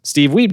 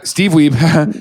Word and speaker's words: Steve Wiebe: Steve Wiebe did have an audience. It was Steve Wiebe had an audience. That's how it's pronounced.